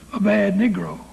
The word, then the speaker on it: Abednego: But like the militants of the Old Testament, Shadrach, Meshach, and Abednego, some people pronounce that last fella a bad Negro.